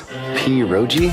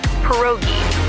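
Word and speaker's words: pierogi: What is this? Poi. Did I pronounce that right? It's pronounced perogi. A tasty dish like dumplings.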